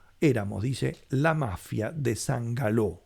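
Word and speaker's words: San Gallo: dice la mafia de San galó o sangalo como pronuncian algunos En referencia San Carlos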